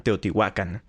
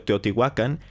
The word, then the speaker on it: Teotihuacán: muchísima información por cierto ya habrán notado que pronuncio teotihuacán y no teotihuacán esto es porque se supone que si se pronunciara como lo hacían los antiguos sonaría de esta forma y teotihuacán es una pronunciación castellanizada o españolizada se podría decir la verdad